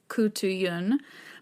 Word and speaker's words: Khutulun: the wrestler princess so according to my research what seems to be the most accurate pronunciation of her name is koutu Yun but if anyone listening